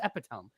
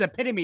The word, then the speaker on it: epitome: oh yeah that's epitome and so I said epitome and they're like no this is epitome and I was like wait that's how that's spelled what no I have been saying I have been reading this the wrong way this entire time are you kidding nothing